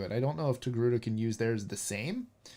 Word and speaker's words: Togruta: I can never pronounce it right. Togruta.